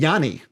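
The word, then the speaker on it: Yanni: you had janus entertainment yani yeah yani yani is the the actual proper greek pronunciation of that name who put up 154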